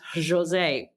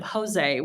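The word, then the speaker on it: José: So it's very much Jose instead of Jose, which we're used to with my background with some Spanish.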